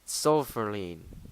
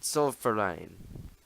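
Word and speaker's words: Zollverein: made something called the sulfur lien for right but that's that's not how that's pronounced this this book is stupid it's softer line not so fair right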